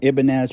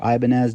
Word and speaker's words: Ibanez: And then he went and posted this up for $100, an Ibanez or Ibanez, depending on how you want to pronounce it.